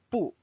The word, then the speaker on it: 不: 不 means no or do not, and 不 is the fourth tone. However, you will notice or you may have already noticed that 不 will change its tone in some situations. So one situation is if the next character after 不 is another fourth tone character, it will change to 不 second tone.